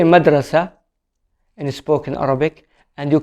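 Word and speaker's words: مدرسة: small and simple example in arabic school means madrasa madrasa this is in standard arabic in spoken arabic it will be madras madras i should say an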